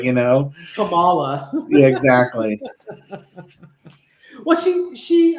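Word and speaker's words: Kamala: you know presenting it it's comma like the punctuation law exact easy to remember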